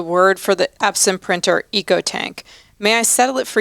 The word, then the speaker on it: EcoTank: for the Epson printer ecotank may I settle it for you once and for all it's a long e so think economy ecology eco-friendly or e-commerce West and West okay I can't